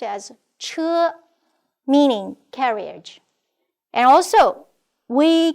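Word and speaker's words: 车: This is pronounced as che, meaning carriage.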